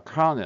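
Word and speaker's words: colonel: を持ちます例えばこれこれ読めないコロコロネルって呼んじゃうよねどう考えてもねこれはカーネルと読みますカネル発音はえ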